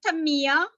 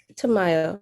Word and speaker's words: Tamaya: I have, is it Tamia? Did I pronounce it correctly? Tamaya, yeah. Tamaya.